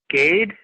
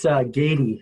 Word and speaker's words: Gade: Gade? Yes. Yeah, it's Gady is how we pronounce Gady.